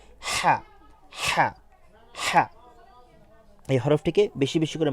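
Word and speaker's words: ح: সুবিধার্থে যদি বলি যে হা হরফটি আমরা অনেক সময় এই ধরনের আওয়াজ করি এ ধরনের আওয়াজ করি এই আওয়াজটা আমরা যে স্থান থেকে করি সেই স্থান থেকে আমরা উচ্চারণ করব হা এই হরফটিকে বেশি বেশি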